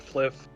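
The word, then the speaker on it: Flyff: for fun fly ff we pronounce it fliff uh this confused sliver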